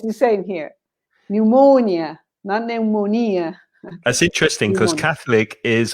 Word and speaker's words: pneumonia: and the last one pneumonia pneumonia pneumonia exactly the same stress pattern as psychology pneumonia four syllables pneumonia all these are